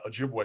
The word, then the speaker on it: Ojibwa: because they're not the Chippewa tribe, they're the Ojibwa tribe, which I'm probably pronouncing wrong anyway, but white people just couldn't